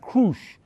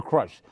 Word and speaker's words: Krush: her name was pronounced Krush. She was Arena Krush. But again, she kept coming to this country at a young age. She changed the translation the pronunciation of her name to Crush.